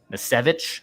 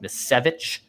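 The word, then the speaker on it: Misiewicz: Roster move: Anthony Misevich, I believe is how I pronounce it. Misevich, the Miz is what Rock referred to as, not as the wrestler The Miz.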